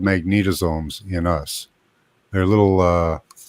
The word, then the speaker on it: magnetosomes: look this up swe magnetosomes so mag just like it sounds s o mes Magneto s o mes tell some more magnetosomes this is from AI let me read this for you Jeff magnetosomes are nanometer sized organel